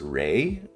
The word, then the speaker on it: Ra: Some sources I said I saw could have his name as Ry instead. Like I said, the vows are just guessing. So, we don't know for sure.